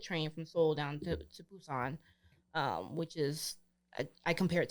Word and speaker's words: Busan: Well, it's Busan, but they pronounce their B's like P's, so it's Busan.